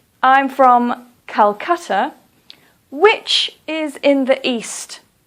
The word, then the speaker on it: Calcutta: Or, for example, Calcutta. Please don't say Kolkata. Please say Calcutta.